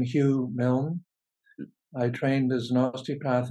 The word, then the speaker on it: Hugh Milne: and and we'll take it from there I pronounce my name Hugh Milne I trained as nasty path in London England